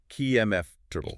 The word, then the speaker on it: comfortable: How should it sound? More like KMF triple. K U MF triple. Three syllables.